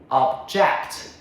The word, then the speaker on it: object: As a verb to disagree. Second syllable. Object.